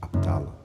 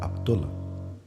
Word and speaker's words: Abdullah: Abdalo or Abdullah. You can pronunciate it in various ways.